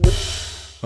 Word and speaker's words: Worcester: But it's pronounced Worcester.